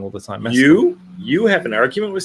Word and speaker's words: Mescal: Like I actually had a bit of an argument with someone on Twitter about Paul Mesclun. Paul Mescal. I get his name wrong all the time. Mescal.